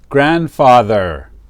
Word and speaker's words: grandfather: Now we can make a flashcard for grandmother and grandfather. Also, we don't pronounce the D.